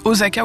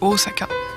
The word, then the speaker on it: Osaka: les chaînes normal où les gens disent osaka au lieu de osaka voilà les petits poissons